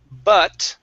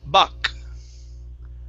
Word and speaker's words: but: Por ejemplo, cuando dice la palabra but, aquí dijo buck.